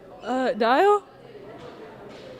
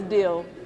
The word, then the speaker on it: Dill: Dial? Is that right? No. It's Dill.